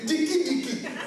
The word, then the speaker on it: diki diki: Il faut le prononcer diki diki.